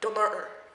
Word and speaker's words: Dunnottar: Well, first, he came to Dunnottar Castle, and I'm not pronouncing that right, but it's like the Scottish people say, like, Dunnottar, and I just, that was really bad. So I'm just gonna say Dunnottar, because that's how it's spelled.